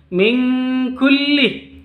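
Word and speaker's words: من كل: Kenapa di sini tidak samar bacanya? Ini bacanya dengung. Min kulli. Ada ditambah tambahan ng. Karena di huruf ikhfa itu ada 2 huruf yang pengecualian.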